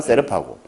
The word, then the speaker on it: 세르파: 우리 흔히 셀파라고 그래요. 셀파. TV에 보면 원래 발음은 세르파고.